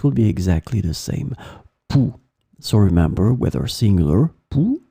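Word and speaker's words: poux: So one more time, remember, a noun, masculine, un pouls, or it can be the plural form with the X in the end that you don't pronounce, des pouls.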